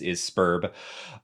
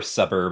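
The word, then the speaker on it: Sburb: waiting for, which is Spurb or Suburb. I've heard people pronounce it both ways, and I've always been a Spurb guy.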